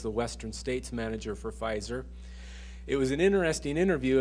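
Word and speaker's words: Pfizer: it at the time PF i z r well that's pronounced fizer and uh so I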